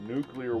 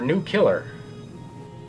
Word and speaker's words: nuclear: Who could have thought nuclear war could be so boring? Is it pronounced nuclear or new killer? No! Nuclear.